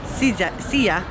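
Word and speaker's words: szia: to learn a few hungarian words like hi pronounce sia uh how are you hodge how are you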